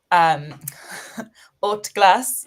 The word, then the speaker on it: Haute Glace: The order of business is we're kicking it off with a French whiskey, Haute Glace, which is how you say it.